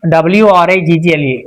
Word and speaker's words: wriggle: 15, WRIGGLE, wriggle. Of course, W is silent.